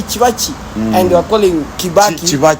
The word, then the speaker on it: Kibaki: And they were calling Kibaki Chivachi. because B is pronounced like Va. It's not Va.